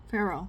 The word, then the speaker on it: Pharaoh: Pharaoh. Pharaoh. The Pharaoh. It's spelled so stupidly that it doesn't even sound like it doesn't look like how it's supposed to sound. The Pharaoh.